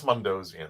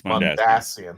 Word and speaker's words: Mondasian: It's Mondosian. I'm sorry, Lois. Mondasian? Yes, it's Mondasian. Yeah. Pronunciation. The emphasis is on the ass.